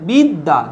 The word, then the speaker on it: বিদ্যা: বিদ্যা, বিদ্যা, দেখো শব্দের শেষে জফলা আছে, তাই এর উচ্চারণ কিরকম হবে? বিদ্যা, দুটো দ, বিদ্যা, বিদ্যা।